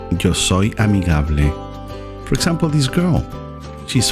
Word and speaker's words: amigable: spanish is pronounced similar to amicable amigable that means friendly one